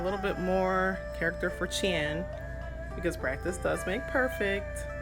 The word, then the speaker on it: 钱: So here we have money, and the way you say money in Chinese is qian. So I may not be pronouncing that 100% correctly as far as my tone, but it is qian.